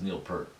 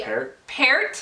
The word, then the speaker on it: Peart: I've heard it always as Neil Peart. So that is incorrect according to the Canadians. Probably It's supposed to be Peart, Yeah, I knew it.